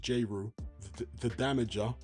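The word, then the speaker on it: Jeru the Damaja: That's how it's spelled that way, but pronounced Jrew, the damager. Damager being spelled D A M A J A. Ju the Damager.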